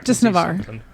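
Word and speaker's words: Navarre: Is that some Are you speaking dragon speak from the land of Navar or what? Is that how you say it? Navar.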